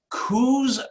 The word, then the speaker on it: Coos: He was born in Coos Bay. Now, am I pronouncing Coos correctly?